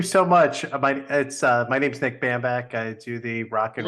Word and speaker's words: Bambach: My name's Nick Bambach.